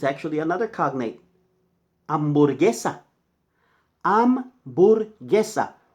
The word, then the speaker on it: hamburguesa: Hamburguesa. Hamburguesa. H is silent, not hamburguesa.